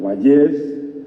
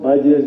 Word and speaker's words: Vallés: Me refiero, como ya se ha mencionado, a Francisco Valles, o Vallés, aunque no lleva tilde, pero en Alcalá es conocido como Vallés, no como Valles. Francisco Valles de Covarrubias, que es